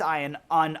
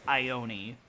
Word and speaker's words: Ione: Island we just passed iron on I'm being told it's it's pronounced Ione we just passed on